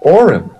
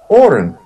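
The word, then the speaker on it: Auryn: is a magical necklace that is called the Orin and it's spelled a u r y n and the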